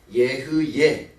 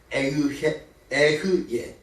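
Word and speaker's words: אהיה: 여기서 나는 스스로 있는 자 아니라 나는 이 히브리 원어는 어떻게 쓰여져 있냐면 예흐예 아쉐르 발음도 에흐예 다시요 에흐예 아쉐르 에흐예 요 세 단어로 이루어져 있습니다.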